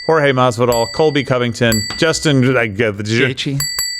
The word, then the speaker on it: Gaethje: kicker, Dana White, Jorge Masvidal, Colby Covington, Justin Gaethje. Say it again. Justin Gaethje. Gaethje, Henry Cejudo. Yeah. All right. I thought that's how you pronounced it, but I wanted to make sure.